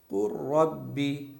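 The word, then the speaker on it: قل رب: तजी लगा दी है कु रब्बी लाम की जर्रा बराबर भी आवाज नहीं आनी चाहिए ऐसा लगे कि लाम यहां पर लिखा हुआ ही नहीं है इस लाम को हिज्जे में भी नहीं पढ़ना है हिज्जे कैसे करेंगे काफ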